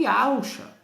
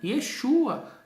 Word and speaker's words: Yeshua: Agora, a pronúncia do nome que foi dada ao Messias não foi Yahusha, foi Yeshua.